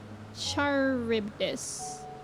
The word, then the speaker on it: Charybdis: The Charybdis. That is what we shall tend to next. Although, I bet that's pronounced like CH is a K.